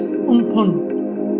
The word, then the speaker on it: Amphan: In May, Cyclone Amphan left a trail of devastation in West Bengal and Odisha. Amphan, pronounced as Umphun, means sky, and was suggested by Thailand in 2004.